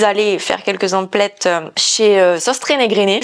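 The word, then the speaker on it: Søstrene Grene: chez sauce trainé grainé je suis la seule je crois à prononcer ce magasin comme ça tout le monde dit sauce train grain un truc comme ça mais bref moi je prononce toutes les lettres ils ont des des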